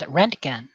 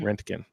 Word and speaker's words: Röntgen: Google pronunciation says Röntgen. Röntgen. Mhm. Roentgen.